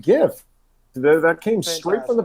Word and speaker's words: GIF: He said it was GIF. He told us it's pronounced GIF.